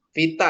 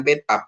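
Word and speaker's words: βήτα: Vita ya, bukan beta. Vita.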